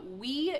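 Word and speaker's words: Oui: uh sturdy jar and the yogurt is spelled o UI and it's French it's a French yogurt so it's um it's called we yogurt and I eat the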